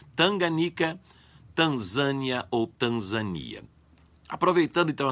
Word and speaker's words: Tanganica: O nome é Tanganica, sem acento, palavra paroxítona. Como não há acento na antepenúltima sílaba, a pronúncia tem que ser Tanganica, certo?